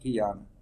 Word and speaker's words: Tiana: Because I was mispronouncing your name. I said Tayana. I said, nope, Tiana.